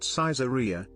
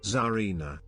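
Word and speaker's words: Czarina: My name, it's not Caesaria. It's not Cesarian. It is Zarina. We love you, Brav man. Oh, you don't pronounce the C.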